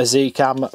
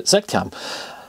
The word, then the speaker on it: Z Cam: That's about 20 quid, and that'll run a Zcam for, I hate saying Zcam, being British, I want to say Zcam, but this Kinson has said it has to be pronounced Z, so there you go.